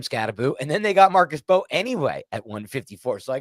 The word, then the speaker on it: Marcus Mbow: You don't pronounce the M. I've learned Marcus Bo.